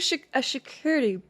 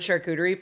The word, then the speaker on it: charcuterie: Now all I can think about is security, but with a SH. Security? Charcuterie.